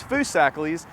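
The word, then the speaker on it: Foosackly's: mean they're all these these folks that'll try to say it different ways but it's foo sackles and it is original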